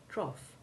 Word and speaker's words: trough: but also very simple the ou9 sound is the basic short o1 sound of dof or soft and we find it made by a few ought combinations like cough and trough and this ou9 sound